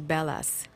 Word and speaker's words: Bellas: his last name is Bellas B happen that it's it's written with two L's but it's pronounced with one L like the like in